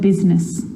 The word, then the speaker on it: business: The I is not usually silent. It's usually pronounced, except in the word business.